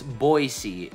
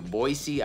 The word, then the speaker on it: Boise: screen right now foreign so it's Boise I've heard some people say with an S Voice C I heard I've heard some people say with a z boy Z so I guess it's